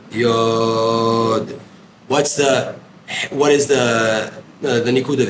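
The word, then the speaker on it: יוד: For example, how do you say the letter yud? Yod. Yod is how you say yud, really. It's not yud, it's yod.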